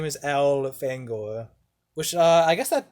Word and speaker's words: Elfangor: his human name is al fangor which uh i guess that that kind of proves that it's pronounced alfang or not elephant goer it definitely is it's like al finger elf angor al fangor i always found